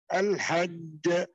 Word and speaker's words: الحج: مواقيت للناس والحج هكذا ada qalqala kubra ashad yaitu ada qalqala yang besar dan kuat di dalam al-hajj dan al-haq gitu ya seperti itu pengucapannya karena ada syaddah di situ dan kemudian ada qalqalah.